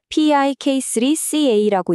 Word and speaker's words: PIK3CA: P3CA라고 읽는데요.